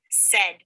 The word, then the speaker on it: said: What's the middle sound in my word? Eh. That's right. And in this word of said, we spell the F sound with an A-I.